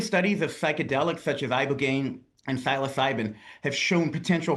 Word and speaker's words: ibogaine: Specifically, they were touting this one drug, ibogaine, I believe is how you say it.